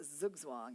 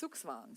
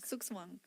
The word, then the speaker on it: Zugzwang: I learned that pronunciation yesterday from Elizabeth, the right German way to say. It's not Zugzwang, But- it's Zugzwang. Sukswang with the S, yeah? Not instead of the Zugzwang. Sukswang.